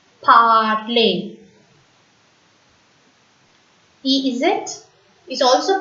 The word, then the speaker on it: parler: When you find ER at the end of the French word, that word is pronounced as A. ER is A in French. So we have to pronounce this word as parler. Repeat, parler.